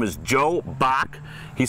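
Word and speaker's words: Bock: His name is Joe Bach.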